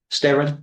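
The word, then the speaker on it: Steron: How do you pronounce it? Stirr. Steran.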